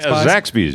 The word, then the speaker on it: Zaxby's: and I didn't I'm not even gonna sure if I'm gonna say it right Zach's Zaxby's Zaxby's yeah those Zaxby's yeah we